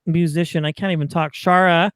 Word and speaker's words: Schara: can't even talk shara i'm saying that right correct yeah you did i'm impressed good job yeah i know well do people mispronounce it all the time i'm sure oh yes all the time they call me scarra or scara and i'm like but who would name their kid that i know